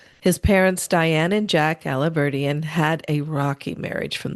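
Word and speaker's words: Alahverdian: The name of the criminal is Nicholas Aliverdian. That's how you pronounce that? Yes, ma'am. Aliverdian.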